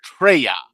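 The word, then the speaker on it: Traya: Treya, I think it's T R A Y. That is how you say it.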